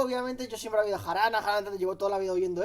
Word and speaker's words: jarana: Jarana. ¿Cómo se dice? Jaraná. Jaraná, ¿no? No es... Yendo más atrás. No, jarana. Sí, vale, se dice jarana, pero viene de haram.